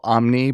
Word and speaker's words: Omni: system and make an impact in their Community Omni welcome to the show Welcome we're so happy that you're here the investor guy so excited to be here and it's spelled Omni but it's actually pronounced Omni and so that's